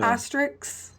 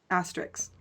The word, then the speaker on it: asterisk: the ER asterisk everybody I always say it wrong so Astrix okay I think cks so it sounds like an X asterisks somebody's gonna I'm just